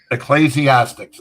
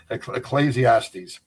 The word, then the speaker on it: Ecclesiastes: Ecclesiastics. Ecclesiastics. Okay. I'm trying to pronounce it on the air and I couldn't I couldn't say it. Ecclesiastes.